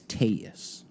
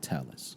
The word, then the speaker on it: Telles: mhm they called him that but he now pronounced on the stand that is taus not Tellis so Robert tus case essentially what he had